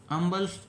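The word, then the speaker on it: humble: यहाँ देखिए जो ये इसकी प्रोनाउंसिएशन होती है, ये अम्बल सर्वेंट ऑफ द पीपल, ये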